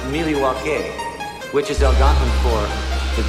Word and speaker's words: Milwaukee: Do you come to Milwaukee often? Actually, it's pronounced Milwaukee, which is Algonquin for the good land.